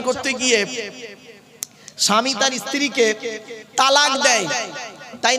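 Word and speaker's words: طلاق: গিয়ে স্বামী তার স্ত্রীকে তালাক দেয় তাই না আরে ভাই বলুন না শব্দটা কিন্তু তালাক নয় শব্দটা তালাক বলবেন না কেউ শব্দটা হলো তলাক কি বললাম তলাক ওর আরবি উচ্চারণ কি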